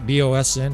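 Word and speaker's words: boatswain: BOSN is basically how it's pronounced.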